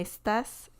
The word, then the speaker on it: estás: They pronounce certain S letters like differently from S, like we do in English and also in some parts of Latin America, and well, Spain is another thing, but it's like the second S in words, they pronounce that like sighing, like you're sighing. Estás. Me estás cargando.